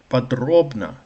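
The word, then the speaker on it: подробно: but podrobna podrobna pod podrobna pod robna podrobna Middle syllable stressed.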